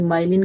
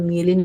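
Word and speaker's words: myelin: Pronunciation आप कुछ भी, कोई माइलिन करता है, कोई मियलिन करता है, ठीक है।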